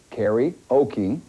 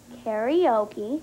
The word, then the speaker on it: karaoke: not really Bo well karaoke pronounced Carrie Okie karaoke That's right well it's